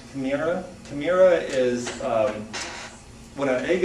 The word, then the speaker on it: chimera: Also, when God gives out the soul to people, this first word, it's pronounced chimera.